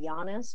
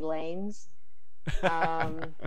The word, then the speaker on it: Llanes: So, I mean, I don't know, when I raced, it was, I mean, you pronounce my last name Giannis, but so many people would just call me Lanes.